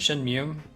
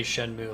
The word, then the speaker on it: Shenmue: wasting our time um I used to pronounce it Shen mum I uh I've heard people say shenmu like I tried Googling how do you pronounce it and the results I got said shenmu it doesn't really like map to it's supposed to be Chinese it doesn't really map to a Mandarin word at least not that spelling um